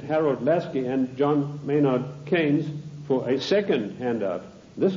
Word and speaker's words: Keynes: or keynes he said keynes was a better word because it arrived with it rhymes with brains and this is the